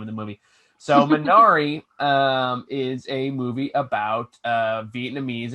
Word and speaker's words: Minari: Minami? I know I'm horribly butchering it. Minari. Minari.